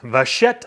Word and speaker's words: Vachetta: so special is the Vachetta leather. And that is a French word. And I actually had to look that up to know how to pronounce that. Vachetta leather.